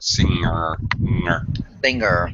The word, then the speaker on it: singer: Be careful of pronunciation of singer. Singer, yeah. Yeah, there's no G sound.